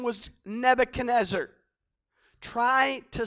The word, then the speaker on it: Nebuchadnezzar: man whose name was Nebuchadnezzar try to spell that twenty-five times when you're writing your message Nebu CAD nazar okay just just phonetically you can sound it out he was the